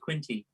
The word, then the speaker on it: Quinty: It could be Quint. It could be Quinte. It could be something else. It's Quinty.